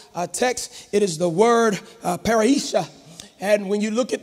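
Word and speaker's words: parrhesia: When you look at confidence in this actual text, it is the word paraisha. And when you look at that and it's spelled P-A-R-R-H-E-S-I-A.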